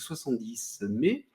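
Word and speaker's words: 70mai: Donc c'est un Xiaomi qui fait ça en collaboration avec 70 mai, ça Ouais. se prononce comme ça.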